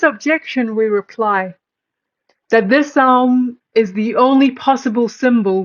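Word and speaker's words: ॐ: And this is the Om, and the Om only, because these three letters, A, U, and pronounced in combination as Aum, may well be the generalized symbol of all possible sounds.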